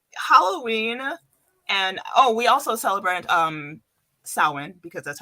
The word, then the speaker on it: Samhain: It's like, I think Halloween and we also celebrate Samhain because that's how it's pronounced.